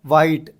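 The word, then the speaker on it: white: उसके बाद में अपने क्या है, वाइट, H साइलेंट हो गया।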